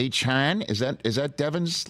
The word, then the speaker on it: Achane: night that he won it's not a chain it's Han is that is that